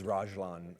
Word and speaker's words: Ragland: It's Ragland, actually. Ragland. It's French.